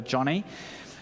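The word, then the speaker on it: Joni: j n i but she's named after her father and so she insists her name is pronounced Johnny so I'm going to call her Johnny Johnny Erikson uh was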